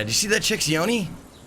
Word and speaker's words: yoni: Yoni, pronounced yoni, is the Sanskrit word for the vagina.